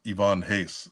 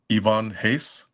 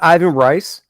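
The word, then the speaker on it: Ivan Reis: say I used to say Ivan Reese is pronounced Ivonne Hace. Uh, I think that was uh around his run. Wait a second. Let's back up. It's pronounced what? Ivonne Hace. It's not Ivan Rice.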